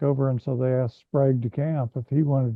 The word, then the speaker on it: Sprague: I can't imagine that Sprague de Camp is it Sprague or Sprague? Sprague is the way he always pronounced it.